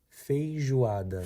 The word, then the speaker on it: feijoada: The correct pronunciation is feijoada.